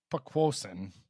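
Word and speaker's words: Poquoson: Speaking of Jason Bryant, he did it is Pequosin, is how you pronounce where he's from, and it's an Indian word meaning great marsh.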